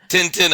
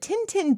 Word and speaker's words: Tintin: Tain Tain in French it's t tin yeah Tintin okay in French this might be before your